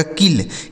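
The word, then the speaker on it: kill: आगे के I double L के से हो जाता है दोस्तों क। इस आई से पढ़ेंगे छोटी इ की मात्रा और डबल एल से ल। इसे पढ़ा जाएगा किल।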